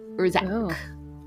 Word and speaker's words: Yrrzac: name, and you remember it was spelled like YRRZAC. Urzak. Urzak. Yeah. Oh, is Urzak.